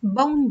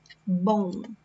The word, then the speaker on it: bom: Bom dia, bom. So we say it like this, bom. Okay, it's not bom, bom.